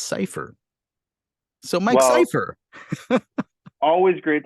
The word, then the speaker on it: Seyfer: Green Room beforehand but it is not safer it's safer so Mike Piper always